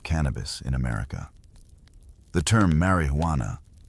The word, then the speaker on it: marijuana: The term marijuana, often pronounced with a soft, rolling R, was initially a descriptor for a specific preparation of the plant, usually smoked.